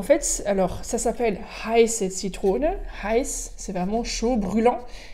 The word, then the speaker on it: Zitrone: Heiße Zitrone, attention bien le Z qui se prononce comme s'il y avait un T devant, un T, Zitrone, et c'est pas Heiße Zitrone, Heiße Zitrone.